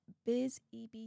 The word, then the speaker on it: Bizib: bucks, saying, Queen Steph, Bizib is Biz E.B.